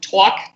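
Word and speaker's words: Tawk: sound so New York, Twawk, T-A-W-K .to. T-A-W-K.to? Yep, so it's like talk to, but it's pronounced Twawk. Twawk.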